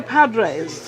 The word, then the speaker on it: Padres: Now, Shawn is actually from San Diego, and he was with the Padres.